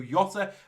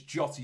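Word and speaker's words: Jota: at diego giotto now i used to call him diego yotta i've been advised that it is jotty you pronounce the jay we're going to bring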